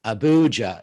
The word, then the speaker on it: Abuja: Abuja right now. Abuja, yeah. Abuja. I'm getting my pronunciation right.